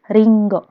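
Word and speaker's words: りんご: Ringo ini adalah apel ringgo ringgo bacanya ringgo korewa ringgo Des kemudian artinya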